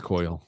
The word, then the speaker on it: Coyle: How the hell do you pronounce his name? Coyle? I don't know. Coyle. It's Coyle. Yes. Well, I'm not going to go with how you pronounce Coily, it.